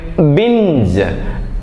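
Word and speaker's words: binge: ഇ യിലാണ് അവസാനിക്കുന്നത് ജി ഇ യിൽ അവസാനിക്കാം നമുക്ക് ബിഞ്ച് അപ്പൊ ജി ഇ യിലാണ് അവസാനിക്കുന്നത് ബി ഐ എൻ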